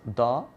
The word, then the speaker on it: the: is pronounced both as da and D but there is a difference if it precedes means if it comes before a consonant sound it is pronounced as da as here I have